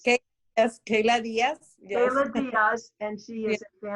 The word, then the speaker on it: Keyla Diaz: Did I pronounce that right? Keyla Diaz? Okay. Yes, Keyla Diaz.